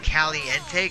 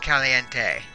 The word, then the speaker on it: caliente: and I think I know why it's called Caliente Caliente is Spanish for hot only it's spelled with a C not a K okay